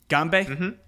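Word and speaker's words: 干杯: you say cheers Andrian yeah it's a Gumby ganbei all right dude ganbei yeah cheers Cheers all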